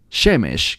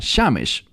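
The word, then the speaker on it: שמש: pronuncia un poco Dif como el término para el sol shemesh que a veces se pronuncia shames diferente terminología mismas palabras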